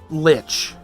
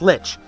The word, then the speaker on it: Lich: it in WoW right Lich right rhymes with witch basically but he swore he swore that it was pronounced li like lonstein and I tried my darnest to tell him no it's Lich it's Lich he refused